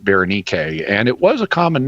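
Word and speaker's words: Βερενίκη: Berenike we bring into English as Bernice, but in Greek you pronounce it Berenike, and it was a common name.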